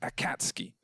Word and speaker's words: Akatsuki: of anime if much it's pronounced Akatsuki apparently I can't skate a